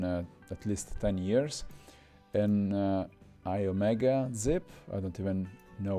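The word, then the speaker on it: Iomega: least 10 years and i omega zip i don't even know what's the correct correct pronunciation of that in italy we say yomega i don't even know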